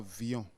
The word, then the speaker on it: Villon: oui François Villon François viillon nous avons cherché et c'est bien écrit prononcé Fillon comme pavignon d'accord donc sur les